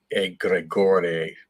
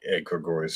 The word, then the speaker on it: egregore: It's a Greek term, and it's egregore is closer to the pronunciation. But of course, we say egregores for simplicity.